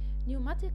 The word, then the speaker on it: pneumatic: أنا خلاص كنسلت ال P، ها عايزة أسمع منكم كده. برافو. pneumatic tires pneumatic tires pneumatic tires.